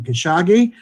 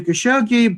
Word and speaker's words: Khashoggi: united states was saying khashoggi and it's changed to khashoggi people seem to change to try to uh more uh give an english pronunciation that more closely approximated the original arabic pronunciation last year 2019 the